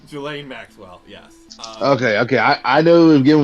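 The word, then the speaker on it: Ghislaine: Is that how you pronounce her name? Jelaine Maxwell.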